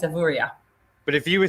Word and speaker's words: Avoriaz: key question for you is it pronounced evorias or avoria officially it should be a avorria but that does depend who's who's saying it but yeah it is avorya but if you were